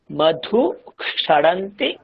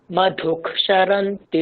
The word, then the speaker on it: মধুক্ষরন্তি: হ্যাঁ দীর্ঘ বর্ণ, সরি, সংযুক্ত সংযুক্ত বর্ণ যদি থাকে, সংযুক্ত বর্ণ যদি থাকে, তাহলে সংযুক্ত বর্ণের যে প্রথম বর্ণটা সেটা আমরা আগে উচ্চারণ করব। দেখুন এখানে মধু ক্ষরন্তি সিন্ধবঃ, তো দেখুন মধু